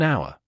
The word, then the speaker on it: hour: to a university, an hour. The word hour starts with the letter H, which is a consonant. However, the H in hour is silent, and the word starts with the vowel sound though.